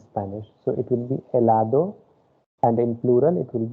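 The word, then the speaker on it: helado: so it will be elado and in plural it will be elados h will be silent second one it is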